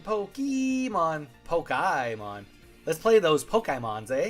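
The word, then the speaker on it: Pokémon: hate when people say Pokemon I mean it's Pokemon right like the actual pronunciation like poke like poke like fish poke because of the E it's Pokemon like an a sound like like your Canadian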